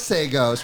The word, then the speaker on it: Sagoes: with this camp hey i told you it was sagos we were trying to figure out your last name so it's sagos how to pronounce it